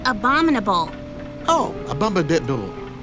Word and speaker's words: abominable: about this abdominal snowman it's pronounced abominable oh a bomba dead